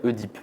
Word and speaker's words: Œdipe: Et puis, à partir des années 50, 60, les gens ont commencé à dire Oedipe. Oui. Et ça s'est généralisé. Dès les années 90, le dictionnaire indique que les deux prononciations sont admises. Et aujourd'hui, tout le monde dit Oedipe ou presque. Mais il y a toujours des irréductibles pour venir nous reprendre, pour dire non, on dit Édipe, c'est la vraie prononciation parce que ça vient du grec.